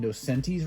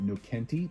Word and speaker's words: Nocenti: But within Volume 1, my primary target is to have Ann Nocenti's run. I believe that's how you pronounce her name. I think for years I mispronounced it Nocenti, but it's Nocenti.